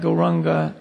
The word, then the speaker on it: Gauranga: And for this meditation, we will divide Gauranga into 4 syllables.